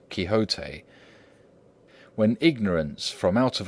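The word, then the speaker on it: Quixote: Misfortune to know that the gentleman's name is pronounced kote when ignorance from out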